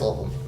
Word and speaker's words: Louisville: So no, it's Louisville.